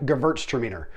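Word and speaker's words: Gewürztraminer: hard to say so just remember that w sounds like a v in german and that last syllable sounds like meaner as in regina is a lot meaner than gretchen so hopefully that'll make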